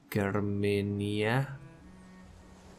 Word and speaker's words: Germania: As you can see, the blue little country in Germania. Almost would pronounce it like Germany, but it would be wrong.